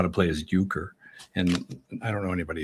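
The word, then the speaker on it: euchre: That game Uker. Uker in Bob Uker. The the late great announcer for the Milwaukee Brewers, maybe. E. Well, certainly pronounced the same way.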